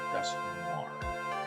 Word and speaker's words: Dusknoir: I think it's pronounced Dusknoir. Duskanor. Or I don't know. Because I call it Duskanor. N-O-I-R is noir, and that's...